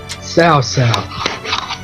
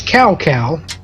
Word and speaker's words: Cao Cao: Sao Sao. It's better than what they used to say, which is cow cow, before they started getting the pronunciation somewhat when I correct.